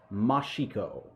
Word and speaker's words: Mashiko: But I would say it's Atsuki Mashiko.